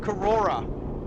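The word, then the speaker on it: Korora: Mount Kurora, right?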